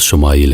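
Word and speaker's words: ישמעאל: خوشخبری سنا دی گئی۔ عبرانی زبان میں اسماعیل کا تلفظ شمائیل ہے۔ شما کے معنی ہے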